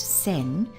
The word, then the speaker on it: 先: It's pronounced sen, and it's the first part of the word for sensei, which means teacher or master.